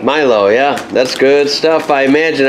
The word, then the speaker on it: Milo: I said it right, Milo, right? Milo, yeah.